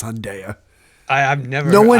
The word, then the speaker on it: Hyundai: heard a commercial and they said hyunda never it's Hyundai no I thought I thought it was Hyundai I just got corrected by you I no he added a syllable see for a second I was thinking back at the story going wait did he say it no I know he added a syllable he said hyunda it was three syllables huh or maybe hunda